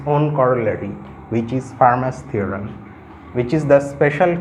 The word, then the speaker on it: Fermat: So far I know, here T is silent, it's not Fermat, it's Fermat.